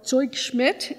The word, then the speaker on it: Zugschmidt: Simon and Babette Zugschmidt, or Zugschmidt in the German pronunciation.